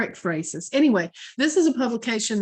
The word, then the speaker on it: ekphrasis: I looked up how to pronounce ekphrasis today. 4 different ways it came up. Different. Okay, so I'm going with ekphrasis or ekphrasis.